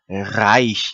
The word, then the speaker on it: Reich: 여기서는 단어의 첫머리에 나오는 R이기 때문에는 독일어의 R 그대로 해서 Reich 이렇게 읽습니다.